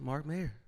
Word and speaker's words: Mark Mayr: A very special guest, Mark Mayr.